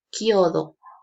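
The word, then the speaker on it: chiodo: tenemos aquí en italiano yo escribo si todo si todo escribo en italiano pero pronunció kyodo kyodo y kyodo en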